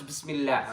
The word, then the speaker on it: Bismillah: And it's not Bismillah, it's Bismillah, right?